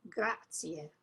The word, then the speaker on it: grazie: Oh, sto bene, grazie. Grazie, remember to smile when you say grazie, so that you say the last vowel.